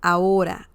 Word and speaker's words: ahora: Ahora, ahora. This is a great word / expression to learn in Spanish because people say it all the time. Ahora, ahora. Remember, the H sound is silent in Spanish, and this means now or in a minute.